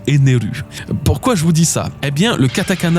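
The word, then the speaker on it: エネル: En prononciation japonaise, ça se dit Arubéu, tout comme Ener qui se prononce Eneru.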